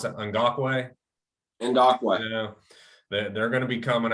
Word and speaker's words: Ngakoue: defensive line with Crosby and, how do you pronounce that? Ngakoue.